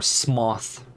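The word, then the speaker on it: Smough: And I do have Smo on the other side, or Smoth, as it was confirmed to be pronounced in a certain point. Hello?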